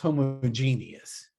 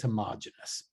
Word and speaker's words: homogeneous: This is pronounced homogeneous. So just keep that in mind. Don't listen to anybody that says homogeneous. Homogeneous doesn't have this extra E right there.